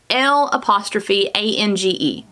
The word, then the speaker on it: L'ange: the curling wand called L''ANGE? Lange, I believe is how you say that. I had to go look it up because I wasn't quite sure.